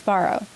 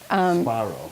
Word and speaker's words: Varo: Remedios Varo. Varo. How do you spell it?